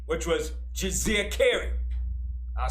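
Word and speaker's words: Djeserkare: And he had a throne name, which was Jizirkeri. I'll spell it. It's D-J-E-S-E-R-K-A-R-E. That is his throne name, Jizirkeri.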